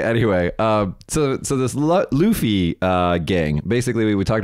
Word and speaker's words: Luffy: Luffy because it's a if it's based off the anime character it's Luffy yeah it's based off